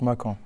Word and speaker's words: Makan: Makan, ça se prononce Makan. Bon, il y a souvent la confusion Makan. Bah, on dit que Makan, mais ça se prononce Makan en réalité.